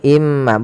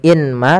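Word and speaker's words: من ماء: Maka cara bacanya masukkan ke huruf mim, yaitu imma, bukan lagi inma tapi imma, sambil ditahan gunnahnya 2 harokat.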